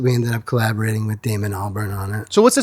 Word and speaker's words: Damon Albarn: Yeah, Damon Albarn.